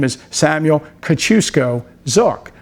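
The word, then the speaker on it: Kościuszko: and some references his name is Samuel Kachusco Zuk. Of course, Chukusco or um sometimes pronounced a Kaziesco is the Polish American Revolutionary War general.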